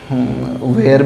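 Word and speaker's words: were: वैसे देखिए कुछ लोग इसको जो है वेयर भी पढ़ते हैं, कुछ लोग वर भी पढ़ते हैं, दोनों प्रोनाउंसिएशन है हमारा, तो कुछ भी हम लोग यूज़ कर सकते हैं। अगर वेयर बोलें तो this is Indian pronunciation, but इफ़ वी call it वर that is somewhat British.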